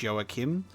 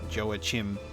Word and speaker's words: Joachim: my terrible pronunciation of a character's name that is pronounced joachim and i was pronouncing it as its spelt which is joachim joe mama even